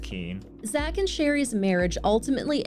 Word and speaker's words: Koehn: Also, thank you to Danielle who's from the area and letting us know that in Iowa, that name is commonly pronounced Keen.